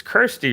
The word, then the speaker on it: Kirsty: It's Kirsty, right? It's not Christy. It's Kirsty. It's spelled Kirsty.